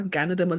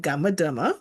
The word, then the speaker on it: Ganoderma: And I now know the name, which is called reishi or Ganoderma lucidum. In the beginning, I said gamma derma.